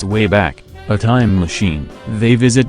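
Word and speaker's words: WABAC: traveling throughout history using the wok pronounced way back a time machine they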